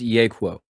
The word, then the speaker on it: Yeahquo: It's Yeahquo. Yeahquo.